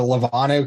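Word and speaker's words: Lenovo: china and after that uh couldn't get a lavano computer anymore that's how you say it i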